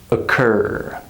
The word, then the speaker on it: occur: For example, when we have the word about, or the word occur. Do you hear that schwa sound? About, occur, adults. This sound happens when a syllable is unstressed and reduced.